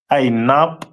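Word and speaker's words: ענב: The symbol is pronounced as Ainab in the Hebrew.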